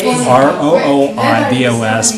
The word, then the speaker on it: rooibos: R-O-O-I-B-O-S, but it's pronounced rooibos.